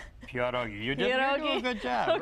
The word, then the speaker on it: pierogi: I did okay with the pronunciation. Pierogi.